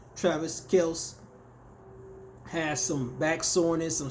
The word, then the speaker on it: Kelce: Now, I know Travis Kelce, or how they pronounce it, or the appropriate pronunciation, Travis Kelce, has some back soreness, some stiffness, so he's not really practicing right now, but he'll be ready for week 1.